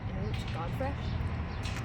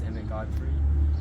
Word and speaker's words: Emmett Godfrey: Inut Godfrey? Who? So, Mr. Godfrey, what are your thoughts on the other candidates? That is not how you pronounce my name. It is Emmett Godfrey, and they're interesting.